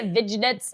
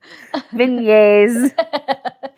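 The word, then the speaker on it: vignette: The first time you said it, I was like, "Oh, she say vigets." I was like, I always see that word and I never know how to pronounce it. Vignet.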